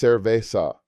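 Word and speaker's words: cerveza: Beer is cervesa, pronounced cervesa.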